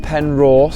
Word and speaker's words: Penrhos: whole of the UK other than glastenbury um it's spelled pen Ross So pen pen Ross veu it's um it's